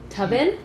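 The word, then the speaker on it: Toven: Tobin. T O V E N. Yeah. Tobin.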